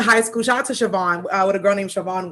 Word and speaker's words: Siobhan: So in school they would be like Shiabon, and she's like, it's Siobhan, but it's spelled the Irish way.